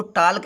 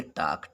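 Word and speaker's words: talk: अगर ए और के बीच में यल आता है तो यल साइलेंट होता है, इसको टाल्क नहीं पढ़ेंगे। वैसे तो लिखा टाल्क, लेकिन यल साइलेंट होता है, इसको पढ़ेंगे टाक।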